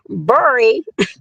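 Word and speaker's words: Barry Farm: A place called Barry, but I'm going to say it like the Washingtonians would say it, Bury Farms.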